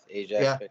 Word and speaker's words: Ajax: a small town of how do you say Ajax? Yeah, Ajax. Yeah, Ontario, come to play in the hockey hotbed of Dubuque, Iowa? Yeah, my dad and mom, we lived in Oakville. We moved from Ajax when I was a little kid and played